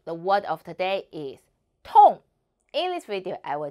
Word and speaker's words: 痛: The word of today is Tòng. In this video, I will teach you how to pronounce it, how to write it, and how to use it. First, let's read together. 我们一起读 Tòng.